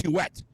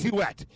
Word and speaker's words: Huet: He goes, hey, by the way, you're all saying my name wrong. It's Huet. It's not Hue, it's Huet. And like people are like, whoa, calm down there, bro.